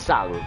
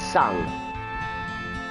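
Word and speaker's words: Tseng: like shang tsung but it's spelled different but it's still pronounced sun if you've played the obviously 587 remake and crisis core they pronounced him as sung so what's that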